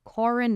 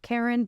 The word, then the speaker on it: Corin: Corin by the way apparently pronounced Corin not Karen but I'll read it